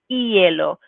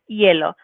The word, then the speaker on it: hielo: E and A, and making sure that that H is always a silent letter. So we don't say hielo, but hielo, hielo.